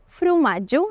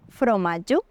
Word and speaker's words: frumatge: I un altre tret fonètic de l'alguerès és que la O àtona es pronuncia com una U, per això fa un moment t'he dit frumatge i no fromatge.